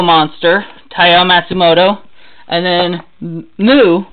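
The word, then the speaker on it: MW: Then we have Ode to Kirihito by Tezuka, Go-Go Monster, Taiyo Matsumoto, and then Mu, which is spelled M-W, which has also been adapted into a live-action movie.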